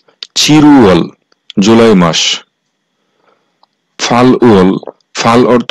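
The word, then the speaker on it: 칠월: হচ্ছে জুলাই মাস আর এই চিলউয়াল এর সঠিক উচ্চারণ হবে চিরুয়াল চিরুয়াল জুলাই মাস ফালউল ফাল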